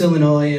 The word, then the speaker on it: Illinois: He keeps on saying, Illinois, Illinois, Illinois, to the point where I just had to stop my act and say, the S is silent, just like the being dumbass.